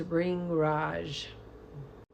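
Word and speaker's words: Bhringraj: And this one is actually pronounced ring raj.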